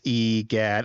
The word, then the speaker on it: Egad: It just pronounced Egad.